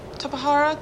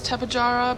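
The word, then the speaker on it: Tapejara: how to say it I always thought it was tepid jarrah but a lot of people quote Tahara so it probably is top Ihara cuz who knows it's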